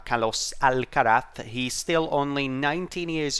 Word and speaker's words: Carlos Alcaraz: him it is carlos i think that's how he should be pronounced in his native language uh kalos al karat he's still only 19